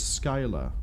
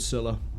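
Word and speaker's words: Scylla: Is it Silla or Skill? Silla. Oh, it is Silla. It's not um or romanized as Skyla.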